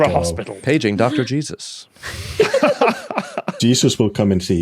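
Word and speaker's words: Jesús: Because it's pronounced Jesus.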